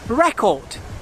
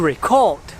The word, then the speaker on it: record: for some of these when the word is a noun the stresses on the first syllable record record and when it is a verb the stress is placed on the second syllable to record record let's try it